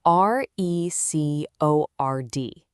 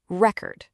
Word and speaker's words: record: If I put the stress on the first syllable, it's a record. That's a noun, a thing, right? Like a vinyl album. But if I just shift the stress to the second syllable, it becomes record.